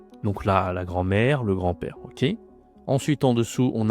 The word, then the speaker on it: grand-père: Mon grand-père ici, attention, on dit pas grand hein, comme en anglais, on dit grand. Tu ne dis pas le D, hein, pas grande. Non, grand parce que grande, c'est le féminin.